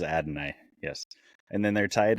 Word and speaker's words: Adonai: to pronounce his name Adonia Mitchell oh Adonai Mitchell Adam okay I'm you said it right I'm not gonna try I believe it is Adonai yes and then they're